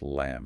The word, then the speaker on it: Lam: Yes, the bija mantra is Lam, pronounced Lam. L-A-M.